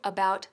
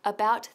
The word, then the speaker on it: about: preocupados, decimos I'm worried about something. Por ejemplo, we're worried about the economy. Y cuidado con la pronunciación de about, no about, sino about. Bien abierta la boca, about, about. Otro ejemplo, how was your test?